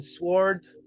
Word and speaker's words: sword: The W in sword is silent.